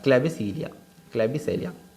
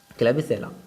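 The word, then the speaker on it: Klebsiella: तो उसका एग्जाम्पल भी बहुत इंपॉर्टेंट है, जिसको हम कह सकते हैं क्लेबिसेलिया, क्लेबिसेला, हाँ क्लेबिसेला, ऐसा करके इसे प्रोनाउंस करते हुए याद कर सकते हैं।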